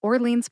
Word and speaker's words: Orleans: the name of this park correctly it is Orleans Park Orleans Park is a city park located